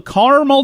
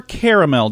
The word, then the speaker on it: caramel: also national go-for-broke day national Carmel Day or caramel Day depends on how you say it it's also read